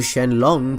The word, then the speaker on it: Shenron: Well, Shenron, or Shenlong pronounced in the manga, is named after the spiritual dragon of the same name in Chinese mythology.